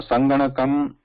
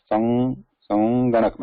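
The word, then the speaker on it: सङ्गणकम्: So naturally it becomes like this nga. However, it can also be pronounced as anusvara. Why? Like how can it be pronounced as anusvara? With little bit pause there. Sanganakam.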